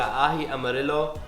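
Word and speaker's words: ají amarillo: with flavor we're going to be using a ahi amarillo i believe that's how you pronounce it yellow chili paste it's absolutely delicious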